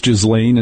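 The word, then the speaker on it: Ghislaine: You and I didn't know how to pronounce Jizlane until now, but now we know.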